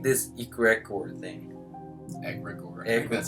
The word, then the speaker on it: egregore: Egregore. Egregore. That's how you pronounce it.